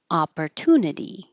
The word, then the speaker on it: opportunity: Society Society High Society opportunity opportunity and I put this here because this might be helpful uh I'll put this in parenthesis opportunity to think of it as tuna if that's helpful thank you for this